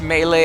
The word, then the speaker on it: melee: guy geez it's called it's pronounced melee I'm told guys I always say melee because it just seems right the way it's felt I